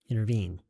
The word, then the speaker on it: intervene: Yes. Intervene. 3음절이요.